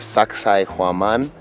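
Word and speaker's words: Sacsayhuamán: at the fortress of Sacsayhuaman. If you can't remember how to pronounce it, just think, sexy woman. Yeah, but it's a Quechua word.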